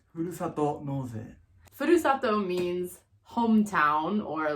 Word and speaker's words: ふるさと納税: This is a very cool system, and it's called Furusato Noze, right? Yes. Say it in real pronunciation. It's called ふるさと納税。